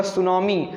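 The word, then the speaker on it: tsunami: एक वर्ड है, आपको पता होगा सुनामी, सुनामी, इसकी स्पेलिंग T से स्टार्ट होती है।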